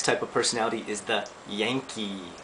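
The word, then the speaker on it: ヤンキー: of personality is the Yankee pronounced just like Yankee okay the English Yankee word okay and the Yankee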